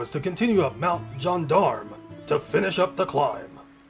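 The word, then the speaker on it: Gendarme: The plan now is to continue up Mount Jondarm to finish up the climb. It's pronounced that way.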